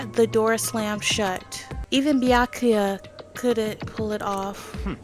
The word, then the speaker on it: Byakuya: Ah, bakula. It's Byakuya. Byakuya.